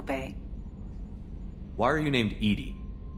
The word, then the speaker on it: EDI: behind the medical bay why are you named edie edie is the phonetic pronunciation of edi that is an acronym for